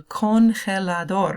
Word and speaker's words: congelador: So, but the G in Spanish is going to be pronounced like the ch sound.